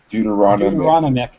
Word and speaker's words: deuteronomic: same word too but just pronounce Deuter Deuteronomy but just put a just put an i instead of a me deuteronomic yeah okay thank you